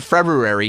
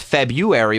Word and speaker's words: February: The R in February has been dropped so that it is almost always pronounced February without the R.